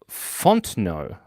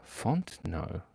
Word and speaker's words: Fontenot: It's actually pronounced Fontenot. Fontenot. Oh, interesting. It must be French.